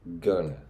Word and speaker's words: going to: so you can see how this going to is pronounced as gonna okay but remember only